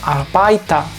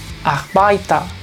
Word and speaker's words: Arbeiter: Por ejemplo, esta palabra se lee erziehen, erziehen, o esta arbeiter, arbeiter, y esta ua, ua. Es muy sutil el sonido de la R porque le precede una vocal, así que mucha atención.